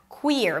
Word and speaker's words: Queer: Queer has a high E sound and then you shift to the R. Queer.